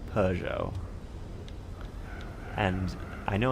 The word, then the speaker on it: Peugeot: I think it's because I never knew how to say it but I always say I always say pujo even though it's Peugeot and I know it's